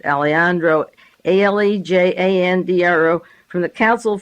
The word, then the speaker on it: Alejandro: Diaz Alejandro, A-L-E-J, the J is silent, Alejandro, A-L-E-J-A-N-D-R-O, from the Council